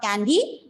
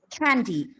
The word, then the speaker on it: candy: Don't ignore it. Candy. It's not candy. It's candy. Costumes.